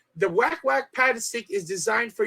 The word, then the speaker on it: WakWak: The reason why we call it WakWak is actually the proper pronunciation is WakWak, right?